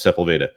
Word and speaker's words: Sepulveda: Yes, Sepulveda. I knew I couldn't pronounce it, so I didn't want to attempt it.